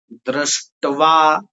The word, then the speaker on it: दृष्ट्वा: दृष्ट्वा दृष्ट्वा देखिए इसमें द्री आधा श आधा ट और व पूरा है और उसमें आ की मात्रा है तो क्या बोलेंगे? दृष्टवा दृष्ट्वा तो पांडवानीकम वम